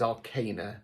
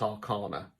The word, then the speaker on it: arcana: Yes, I say arcana because I'm British. If you are unsure, look it up. Look up the pronunciation. It is arcana, not arcana.